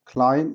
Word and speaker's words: climb: يعد أو يجهز المائدة set the table، يصعد درجات السلم climb the steps. طبعا هنا حرف البي برضك، هنا ده silent لا ينطق.